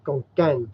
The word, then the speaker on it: ขอนแก่น: ฝรั่ง always say ขอนแก่น because It's they a K. pronounce like a Kevin. K. Yeah. But ขอนแก่น gan, you pronounce like a G go. Konkan.